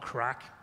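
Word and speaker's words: craic: quickly about a small word called crack you know it's spelled c-r-a-i-c it's a Gaelic word which means good times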